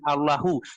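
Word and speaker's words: الله: Coba dilihat di sana tulisannya Allah atau Allahu. Allahu itu kalau kita sambung sebagaimana yang teman saya katakan tadi, Allahu itu kalau ada kalimat sebelumnya kita sambung, tapi kalau kita wakaf berhenti cukup bacanya Allah.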